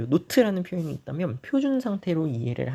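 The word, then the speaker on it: naught: H에다가 노트를 달아줍니다. 노트라고 읽고요. 노트.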